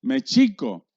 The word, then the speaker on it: México: el nombre de méxico todas las palabras náhuatl son graves no hay agudas y no hay escrúpulos y su pronunciación real es méxico que era antes un